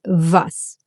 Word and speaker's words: was: But in German, it's pronounced as a v. Like in the English very or video or van.